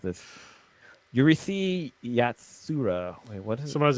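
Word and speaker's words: Urusei Yatsura: It should be Yurisi Yatsura. It's how it should be pronounced.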